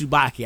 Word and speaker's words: Tsubaki: a black star he has a Tsubaki not casue so I get a little confused on how to say her name but I do know it's Tsubaki I throw that much